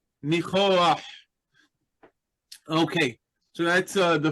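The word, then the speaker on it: ניחוח: We have a We have kind of an auxiliary vowel that helps us pronounce the uh guttural letter at the end of the word. So, reah. Nichoah.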